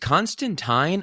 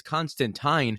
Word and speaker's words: Constantine: is it pronounced Constantine or Constantine because I'm pretty sure in the comics he's always correcting people that it's Constantine and rhymes with fine but then for some